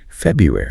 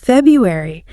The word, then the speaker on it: February: It's spelled with 2 R's, but that first one almost always gets dropped in conversation. It sounds like February. February.